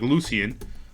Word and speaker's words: Lucian: Lucian, Lucin, like almost like fucking Lucifer, like Lucian.